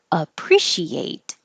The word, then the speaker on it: appreciate: have silent e's but i wanted you to think of she ate appreciate now the t will